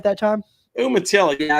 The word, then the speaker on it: Umatilla: Umatilla, yeah, it's middle of nowhere, Florida.